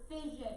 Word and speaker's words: fission: gamma rays all right that is nuclear fission it kind of rhymes with division so that might help